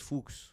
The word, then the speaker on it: Fuchs: Fuchs, like books.